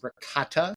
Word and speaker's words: ricotta: that over some ragut, which for non-Italians, that's ricotta. So hard to say that hard C and the T in it, but Italians call it ragut.